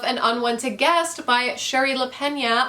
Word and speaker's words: Lapena: unwanted guest by Sherry lapena I think you pronounce her name La Pena that's how they said it on an audiobook but this one is